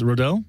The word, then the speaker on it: Rodil: is it not yeah it's actually my last name it's rodel kind of like rodildo but really well the